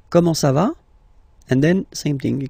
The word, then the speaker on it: comment ça va: Comment ça va? Okay. You raise a little bit at the end. Comment ça va?